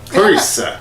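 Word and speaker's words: Clarisse: How's her name pronounced? Clarice. Clarice, yeah.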